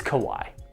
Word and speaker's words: Kawhi: that that's that's how you say it it's kawhi kawhi leonard not james arden not kevin durant